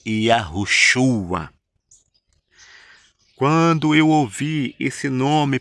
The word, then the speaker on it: Yahushua: E o nome do Messias, do Filho do Altíssimo, do ungido, é Yahushua.